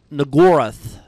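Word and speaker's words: Shub-Niggurath: Fucked up thing is that it is actually pronounced the way you think it's pronounced, but a lot of people mispronounced it on purpose so they don't have to accidentally say the N-word.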